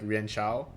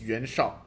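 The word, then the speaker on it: 袁绍: In Yuan Shao's episode, I was pronouncing it like Yuan Shao or Yuan Shao, which are both incorrect. Yuan Shao has more of a Chinese accent into it, but it's still not the same. It's Yuan Shao. That's the correct pronunciation that I found on Wikipedia.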